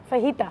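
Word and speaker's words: fajita: तीसरा दिन था, आपने फजीता बनाया था, वो याद है? फहीता जे जो है वो साइलेंट हो जाता है, फहीता।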